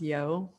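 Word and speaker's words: Yeoh: has michelle i think her last name is pronounced yo yeah um and basically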